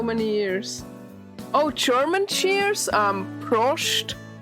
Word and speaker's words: Prost: Prost. It's like spelled like this.